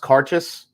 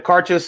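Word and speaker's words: Cairdeas: this the laphroaig cart i think it's pronounced karchus i think that's how you say it this is the uh the cartes is an annual annual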